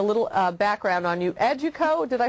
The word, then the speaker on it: Educo: giving everybody a little uh background on you educo did i say it right it's a duco education however you want to say it it's